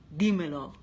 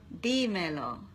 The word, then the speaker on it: Dímelo: Deo it's just Deo where's the accent Deo so that on the first on the first d i m e l o not Deo no Deo okay Deo Deo look